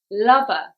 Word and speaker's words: lover: the stress that's right it's on the first syllable lover because it is a two syllable noun and generally the stress goes on the first syllable in two syllable nouns number two where is